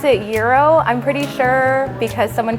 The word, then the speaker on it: gyro: I pronounce it Euro, I'm pretty sure, because someone corrected me a few years ago because it's spelled gyro, so that's what I was saying, but I was corrected to say Euro, so that's the way